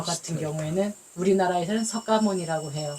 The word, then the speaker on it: 석가모니: 또 음한게 모니에 그래서 석가모니는 우리식 발음 샤카 무니는 그쪽 발음 예 고따마 부다는 불자의